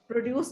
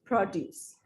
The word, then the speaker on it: produce: Produce. Produce. Okay. Produce. Produce. Produce. Okay. अब ये जो as a verb है, इसकी pronunciation. Produce. Produce. Produce. Produce. Use पे ज़्यादा जोर है.